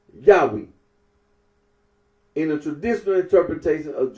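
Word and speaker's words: Yahweh: is one Deuteronomy 6:4 current scholarly consensus generally reconstructs the names original pronunciation as yahwe in the traditional interpretation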